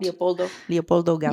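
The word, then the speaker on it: Leopoldo Gout: Leopoldo Gaup.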